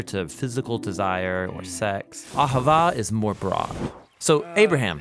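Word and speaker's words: אהבה: languages as it is in ancient Hebrew it's pronounced AA it most basically refers to the kind of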